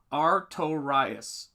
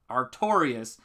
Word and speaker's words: Artorius: Yes, it's pronounced Artorius. Artorius.